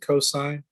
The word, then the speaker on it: cos: cosine it's even though it's written cos you pronounce it cosine of theta is going to be adjacent over